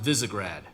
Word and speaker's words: Visegrad: It's pronounced Visegrad. Visegrad, okay.